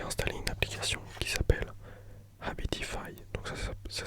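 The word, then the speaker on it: Habitify: pas longtemps j'ai installé une application qui s'appelle abitify donc ça s'écrit h A B i t i f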